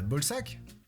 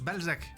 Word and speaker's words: Balzac: B bah bolsac scrotum en anglais sac de couille. Ball sac. Ben oui bol sac. Alors non, vous n'êtes pas monsieur Bolsac. Si, mais ça se mais ça se prononce Balzac.